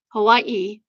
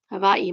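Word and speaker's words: Hawaiʻi: The traditional spelling for Hawaii and pronunciation is hava. Basically, the a and the h emerge and the w and the i merge. The w makes a v sound since it's surrounded by vowels.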